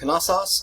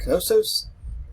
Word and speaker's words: Knossos: The capital city of the Minoan culture was a city called Knossos, or Knossos. Two ways to pronounce the Greek word here, and they're both okay.